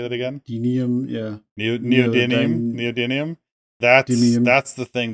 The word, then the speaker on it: neodymium: know how do you say that again yeah neodymium neodymium that that's the thing that i don't